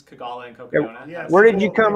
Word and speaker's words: Cocodona: So we just mashed them together, and what came out the other side was Cocodona, and it just kind of stuck, and here we are. Well, Yeah. it almost rhymes with Kogalla, Yep.